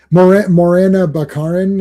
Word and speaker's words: Morena Baccarin: So Yeah, and they've showed the sorceress Morena Baccarin.